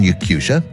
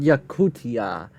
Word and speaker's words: Yakutia: their fields for example residents of Russian yakusa have been specifically yakutia it's called yakutia um these American pronunciations